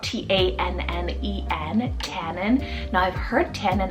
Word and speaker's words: Tannen: I then have Tannen, spelled T-A-N-N-E-N, Tannen.